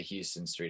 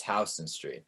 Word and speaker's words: Houston Street: I used to always say Houston, and my dad would always say it like Houston Street, and my dad was like, you cannot be a New Yorker if you say Houston Street. It's Houston Street.